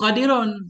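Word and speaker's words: قادر: Qauluhu qadirun dengan sukun ra. Ucapan nazim qadir itu dibaca dengan sukun ra. Qadir.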